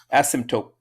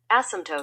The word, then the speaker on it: asymptote: I said taupe, but it's actually tote. Asymptote. Oh, they have a Asymptote. That's I've never seen this before. Have you ever seen this before with a little? Asymptote.